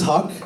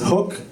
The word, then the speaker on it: Haq: you see how you guys do it just for this so my last name is Huck spelled hiq I get on all types of pronunciations hook and my personal favorite telemarketers have just given